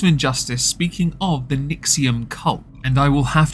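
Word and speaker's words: NXIVM: but it isn't but it is pronounced nium which to me is quite interesting because I had thought it was was a rather well dumb way of writing Nexium there is actually a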